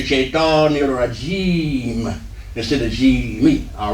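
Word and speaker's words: الرجيم: But at the end of the word, we don't pronounce the last vowel because this is actually be two more syllables, maybe G and then me. But since it's the end of the expression, we drop this vowel in pronunciation. We still have to write, but we drop it in pronunciation and be shaitan nirajim. All right, so let me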